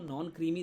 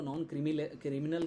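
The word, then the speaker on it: non-creamy: आते हैं तो आपको नॉन क्रीमी सर्टिफिकेट भी लगेगा। बहुत सारे लोग इसको नॉन क्रिमिनल कहते हैं, तो वो गलत प्रोनाउंसिएशन है। इसका सही मतलब है नॉन क्रीमी सर्टिफिकेट, ठीक है।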